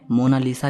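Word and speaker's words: Mona Lisa: मोनालिसा को English में मोनालीसा लिखा जाता है लेकिन इसकी सही स्पेलिंग यह है कोई इसे मोना लिसा कहता है तो कोई मोना लीजा कहता है लेकिन इटालियन में इसकी करेक्ट प्रनंसीएशन है मोनालीसा इसका मतलब होता है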